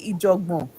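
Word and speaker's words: Ìjọ̀gbọ̀n: I made a white man say Ijogbon. He said he doesn't know how to pronounce it. I said, you will pronounce it. I say E. He said E. Jaw. He said jaw. Bon.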